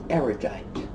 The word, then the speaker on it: erudite: good word is because a lot of people, including very erudite people, mispronounce it. And the reason they mispronounce it is probably because they don't know the root of the word. The root of the word erudite is rude.